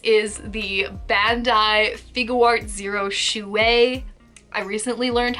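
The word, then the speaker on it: chouette: the Bandai figuart zero shoe way I recently learned how to pronounce that word um I've been calling them Choate and of course it's Chewie because you know it's a French word you gotta like roll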